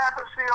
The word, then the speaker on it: Appice: Just call the album and the show, spell it out, Appice.